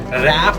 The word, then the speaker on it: wrap: The W remains silent. So you have to say that word as wrap it up.